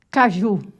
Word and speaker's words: caju: Caju. Ó, tá vendo? A forte é o ju.